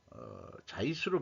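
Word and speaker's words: Zeiss: 그래서 그 이재용 회장이 그 자이스로 발음하는 모양이네요. 사장과 만나서 그 칼을 자이스로 발음해야 되겠죠.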